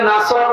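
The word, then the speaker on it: نصر: এখানে সোয়াদ আছে, নাসর মানে সাহায্য, আর নুন সিন রা নাসর মানে ঈগল পাখি। আপনি যদি মুখটা গড় করে শুদ্ধ করে উচ্চারণ না করেন, অর্থ আকাশ পাতাল পাল্টিয়ে যাবে।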